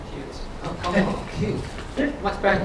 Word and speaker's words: Qt: or Qt, I learned it's the proper pronunciation.